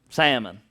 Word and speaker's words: Salmone: Salmon. That's how you pronounce it, was salmon.